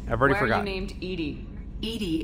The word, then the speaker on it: EDI: okay oh is it eddie or edie i've already forgotten edie edie is the phonetic pronunciation of edi that is an acronym for enhanced defense intelligence um defense huh you